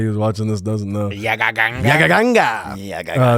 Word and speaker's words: Yagaganga: But you can follow me on Instagram at Yagaganga, which is how you say it, just in case anybody who's watching this doesn't know. Yagaganga.